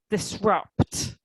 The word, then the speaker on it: disrupt: And then pronounce the T on the end. Disrupt.